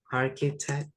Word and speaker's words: architect: Kalau bilang arsitek, tulisannya ada CH-nya juga ya. Arki, tapi bacanya arki ya. Architect. Kan ada CH juga tuh, architect.